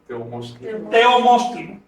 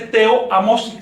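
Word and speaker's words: teomoxtli: Teomostli. No se dice teoamostli, sino teomostli. ¿Por qué? Porque esa combinación TOA de tres vocales no, eso hay que reducirlo.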